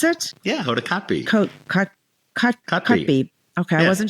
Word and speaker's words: Kotb: and Jenna Hager from the Today with Hoda Kobe. Is that how you pronounce it? Yeah, Hoda Kotb.